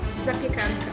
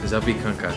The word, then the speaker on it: zapiekanka: Ramona, once again, how do you pronounce this thing? Zapiekanka. Zapiekanka.